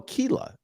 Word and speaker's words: Kayla: with Rhys thank you it's pronounced oh Kela oh it's pronounced Kila if you don't Kila that's how you say it right that's how